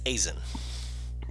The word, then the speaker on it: Azen: Just the E is silent. It's Azen.